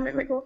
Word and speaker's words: McMickle: boo welcome Dr boo hello and Dr mcml am I and am I pronouncing it right Dr mcml you are indeed thank you very very much